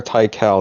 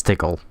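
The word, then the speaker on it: Tikal: approve of this pronunciation I'm not gonna call her tical that's for sure yeah it's tickled hardened Toki you boys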